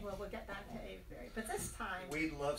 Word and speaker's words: Avebury: Or do you pronounce it differently? Avebury. It is Avebury.